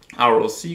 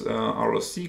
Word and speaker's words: ROC: receiver operating characteristic curves or roc curve or i think maybe you can pronounce it rock curve in any case um